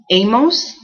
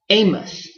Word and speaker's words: Amos: I say Amos. Amos. Some people say Amos, as if this is a U.